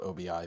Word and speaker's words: Obi: It's spelled OBI, but it's Obi, like Obi-Wan Kenobi.